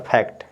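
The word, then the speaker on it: fact: को पूरा उच्चारण करेंगे तो एफ ए सी टी तो फै और इस आधा क पढ़ेंगे और ट फैक्ट क्या हो जाएगा फैक्ट इसी तरह से देखिए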